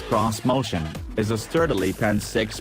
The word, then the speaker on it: Xmotion: 2020 onward this motion which Nissan insists should be pronounced cross motion is a sturdily pen